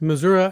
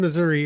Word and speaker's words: Missouri: Yes, both Missouri and Missouri are valid pronunciations according to a poll taken at the state fair many years back.